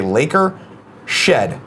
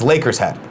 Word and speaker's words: Lakers Head: This is how you pronounce my name. You say Laker Shed. It's Lakers Head. I love the Lakers, so I'm a Lakers Head.